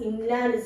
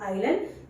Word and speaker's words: inland: You have to pronounce it as inland sea, not island, inland sea.